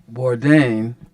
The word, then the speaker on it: Bourdain: I gotta say right here that Chef Anthony Bourdain am I pronouncing that right yes yeah uh he tells